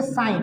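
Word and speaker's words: sign: देखो इसको बोलेंगे साइन, क्या बोलेंगे, इट is good pronunciation साइन, क्या बोलेंगे साइन, साइन because hello ji साइलेंट before use ऑफ एन, एन के पहले अगर जी आएगा तो जी क्या हो जाएगा, साइलेंट हो जाएगा।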